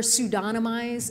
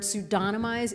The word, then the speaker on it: pseudonymize: And it took me like 5 years to learn to pronounce the word pseudonymize. If you think of Don, like, you know, Don the person, it makes it easier to emphasize that.